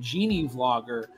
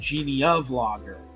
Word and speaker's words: GenieVlogger: The two main ones being the way I pronounce it, GenieVlogger, but then another one which I hear a lot of people saying, GeneaVlogger, which is kind of